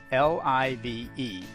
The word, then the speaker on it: live: who are adamant that the correct pronunciation is live as in alive honestly it really doesn't